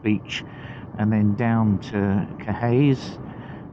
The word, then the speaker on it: Caerhays: Takes you via Emmick and Vault Beach and then down to Caerhays, which is often pronounced for the locals Caerhays, but as I said, you know, that's my version of it.